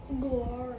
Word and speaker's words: Galar: It's pronounced Galar. It's pronounced Galarian. Galar. Galar? Galar. No, it's literally pronounced Galar.